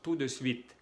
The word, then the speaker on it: tout de suite: Aquí decimos tout de suite, sin pronunciar la E aquí. Tout de suite.